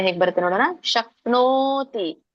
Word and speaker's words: ಶಕ್ನೋತಿ: ಉಚ್ಚಾರಣೆ ಹೇಗೆ ಬರುತ್ತೆ ನೋಡೋಣ ಶಕ್ನೋತಿ ಓಕೆ ನವತ್ತಿದೆ ಮತ್ತೆ ದೊಡ್ಡ ಓ ಸ್ವರ ಕೂಡಿದೆ ಶಕ್ನೋತಿ ಮಾತಾಜಿ ಕೇಳಿಸ್ತಾ ಇಲ್ಲ